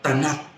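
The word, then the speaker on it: Tanakh: Mao nang gitawag og TNK o pronounce nagbasa tanak. Ang tanak hinimo sa linukot nga basahon.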